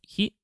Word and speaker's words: 日: to use that to help remember this. So this on its own means sun. It's pronounced he, sun or day, he, so it's day.